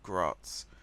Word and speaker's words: Graz: pronounce that right and someone did say in the comments that yes it's pronounced it's pronounced Graz so I'm kind of